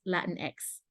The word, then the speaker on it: Latinx: know which country so the proper way to say it's Latin X for if you don't know if it's Hispanic but you don't know which country so you say latinx